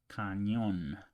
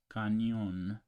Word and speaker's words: cañón: Then this word, this letter doesn't exist in English, but it's pronounced, it's called ñ, and it's pronounced as cañón, cañón, canyon in English, or onion.